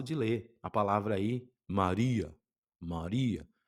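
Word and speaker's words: Μαρία: no começo confunde e você olha ali e fala mapia, não é? Não é mapia, lembra que é um rô, Maria?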